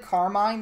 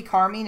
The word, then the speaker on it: Carmine: your pronunciation for that we've said carmine this entire time if you want to be car mean it's your character what